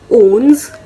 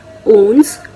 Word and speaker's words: onze: 11 को कहते हैं ओन्स। आप स्क्रीन पर देख सकते हैं इनकी स्पेलिंग ओन्स।